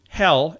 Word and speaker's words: Hel: a bus leading to a place that sounds like the word hell in English. It's H-E-L. It's spelled differently.